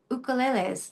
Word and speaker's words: ukulele: Why can't I find a song about ukuleles and having it pronounced ukulele, the Hawaiian word, because it's a Hawaiian word." Um, by the way, there's no Y or Y sound in the Hawaiian language.